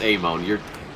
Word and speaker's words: Amon: It's Amon. Everybody gets it wrong.